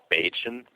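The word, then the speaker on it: Bajan: asked the natives and they go by beun it's spelled B A J an but it's called Bean when we asked the beans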